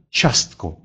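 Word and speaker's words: ciastko: А вот если после звука «ч» идет «и» и дальше идет гласный, то «и» не произносится. Оно служит, эта буква служит лишь для того, чтобы мы знали, что в данном случае буква «ц» произносится как мягкий «ч». Поэтому здесь, в этом слове, будет просто «частко» – пирожное.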